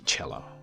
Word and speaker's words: cello: Please say cello, right? Just like Italian.